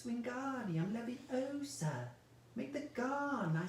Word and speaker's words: Wingardium Leviosa: a wooden you know you're saying it wrong Harry heard Hermione snap its Wingardium Leviosa make the gone I